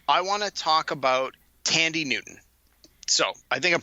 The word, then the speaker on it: Thandie: want to talk about Thandie Newton. So I think I'm pronouncing that right. She spelled it with a TH, but I think the H is silent.